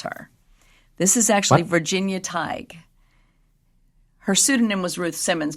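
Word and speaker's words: Tighe: okay she's a Virginia TIG Teague TIG I Googled it and the pronunciation was TIG TIG so we're going to go with that okay she lived in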